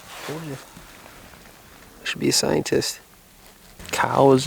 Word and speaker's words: Coues: should be a scientist cows is technically the proper pronunciation although most who hunt them pronounce it coos like c-o-o-z what in the world